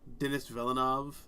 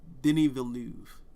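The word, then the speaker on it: Denis Villeneuve: to be that prick pronounced uh Denny villain what' I say Dennis velinov something like that I don't know I'm an American um but like Denny venu okay or vnu no it's Denny vnu okay I'll remember that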